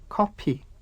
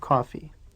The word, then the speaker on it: 커피: Koreans borrowed this word from English, but the Korean language has no F sound, so they say coffee.